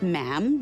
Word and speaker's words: ma'am: For instance, when you're addressing the Queen, she is Her Majesty, and after that it's just ma'am, rhymes with jam.